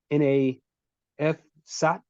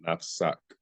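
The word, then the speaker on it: نفسك: The last part, is it N-A-F-SAT, S-A-T, Nafsat? It's going to pay attention. Yes, it's nafsak. The last word is N-A-F-S-A-K.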